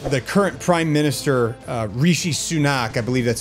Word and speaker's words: Rishi Sunak: is something that the current prime minister uh Rishi sunak I believe that's how you pronounced his name Rishi sunak Rishi he introduced this idea that hey look